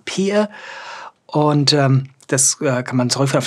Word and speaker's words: peer: Das englische Wort Peer, also ausgesprochen Peer.